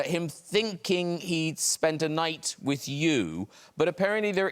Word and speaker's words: Night: you now i i believe i call you night is that right that's correct yeah that's great the aim is silent okay so uh it's lovely to have